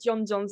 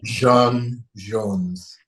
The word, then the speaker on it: J'onn J'onzz: you get before I have to apologize, I said John Jones instead of John Jones. I'm And so I say because and this is the actual French equatorial Martian pronunciation. Oh, right. Jean Jones.